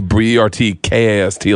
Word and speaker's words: Bertcast: I wanted Bertcast to be Bertcast, like Outcast.